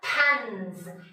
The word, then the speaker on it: pans: pan 울리니까 pans 이렇게 되겠죠.